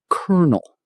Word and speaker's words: colonel: I know, it looks like it should be colonel, but no. Kernel. Like the kernel of a nut. This is one of English's most famous spelling mysteries. The word came from Italian, colonnello, and the pronunciation changed over centuries while the spelling stayed the same.